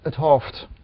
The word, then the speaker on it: 't Hooft: So my name is Gerard het Hooft, and het Hooft is my last name, which the apostrophe T stands for het, H-E-T, which is in spoken language often abbreviated into het.